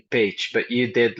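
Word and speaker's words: Pécs: And yes, the totally correct pronunciation would be page, but you did like an A minus, I would say.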